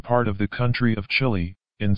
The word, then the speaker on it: Chile: surveying the southern part of the country of chile in spanish-pronounced chile the island of chileway and the broken land